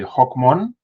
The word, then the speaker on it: Hóc Môn: So it's if I pronounce it correctly, Hoc Mon.